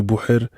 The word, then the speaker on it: Bouhar: n'arrivent pas à prononcer Bouher, et du coup juste Bou pour toutes les personnes nouvelles à ma vie à qui j'ai la flemme d'expliquer que je m'appelle Bouhar mais que ça se prononce Bouher et que mes parents